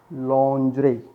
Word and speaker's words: lingerie: it's the female wear dresses, inner dresses, we can say the lingerie, not lingerie, it's the लॉन्जरे, लॉन्जरे, लॉन्जरे भी बोल सकते हैं आप इसे,